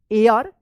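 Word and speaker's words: heir: एच ई आई आर क्या होगा एयर इसको हेयर मत पढ़िएगा एयर पढ़ेंगे एच यहां पे जो है ना साइलेंट रहेगा ऑफ दिस विलेज द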